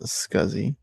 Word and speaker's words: SCSI: It's pronounced scuzzy.